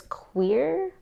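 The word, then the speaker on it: cuir: The color is queer. That's spelled C-U-I-R. I know it sounds like I'm saying queer, but I Googled it, and that is actually how you pronounce it.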